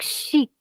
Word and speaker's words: chic: let's learn another exception whenever a word ends with C it is pronounced always so it's chic let's write to our